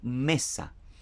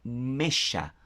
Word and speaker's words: Mesha: Se llama, ¿verdad?, rey Mesha, no Mesa. ¿Por qué? ¿Verdad? Explico. La palabra S para nosotros, ¿verdad?, es Shin, ya, en hebreo. Y la palabra Shin lleva un punto al lado derecho.